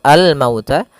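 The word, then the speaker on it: الْمَوْتَ: Kemudian pada lafal mauta di sini ada bacaan lin, yaitu bacaan yang lembut. Almauta. Makhraj huruf wau ee agar kita lebih sempurna yaitu kita monyongkan sedikit bibir kita atau ya monyongkan mulut kita. Mauta al mauta ya.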